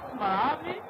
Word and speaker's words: Malawi: C'est comme ça que ça se prononce, Malawi.